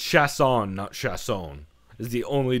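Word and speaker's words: Chiasson: this entire time it's chess on chefs own is the only difference and that's because it's the New Orleans pronunciation not the French pronunciation of chess on so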